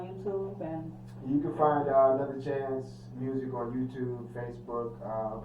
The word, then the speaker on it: Anutha Chanz: But yeah, Another Chanz is spelled ANUTHA and then Chanz, CHANZ.